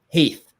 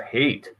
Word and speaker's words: Haith: trying to reach Haith. Nice. Every single time. Haith. Rhymes with faith. Yeah. Yes. Yeah, Siri says Hate, so that's even worse.